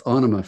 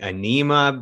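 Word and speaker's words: Ænima: how maynard says it he's the writer it's onoma for him i've been saying anema before so anima in 1996 uh is it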